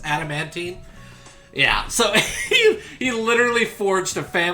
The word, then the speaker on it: adamantine: Am I pronouncing that right? I believe it's adamantine.